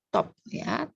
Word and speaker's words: top: Walaupun dalam bahasa Perancis TOP, on ne prononce pas le P, mais parce que c'est un mot de l'anglicisme, on prononce le P, top, ya, top chrono.